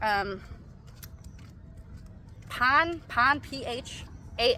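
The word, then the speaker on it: Phan: pon pH a n this is Pon this is not Fon like if you see it with an F say it with an F but if you see a pH in a tie name or tie word it's just P hopefully that's helpful T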